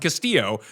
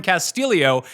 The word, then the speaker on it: Castillo: His last name is spelled Castillo like every other person in the world that you've seen Castillo, but they're calling him Castillio and then adding an extra I after the two L's.